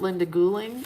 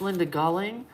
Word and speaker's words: Galling: And Linda Galling is not Linda Gouling. It's Linda Galling, like golly.